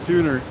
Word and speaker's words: Tuna: Wicked Tuner. Tuner. That's how they say it up there.